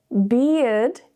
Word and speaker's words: beard: Now with our second word, beard, this is where you pronounce the E, eared, beard.